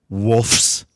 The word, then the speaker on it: Wolfs: It's WOLFS. Wolfs, not wolves.